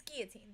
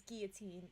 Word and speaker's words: guillotine: oh yeah yeah uh it's Guillotine that the proper way is Guillotine and then we say Guillotine sometimes as a joke because that's the way it's spelled it's guilty there we go but so maybe we'll get an answer but I think I've said Guillotine my whole life but Guillotine does sound like it smoother I've always said Guillotine